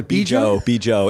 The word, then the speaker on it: Bjo: Is it Bjo? It is Bjo. It's Betty Jo, shortened to Bjo.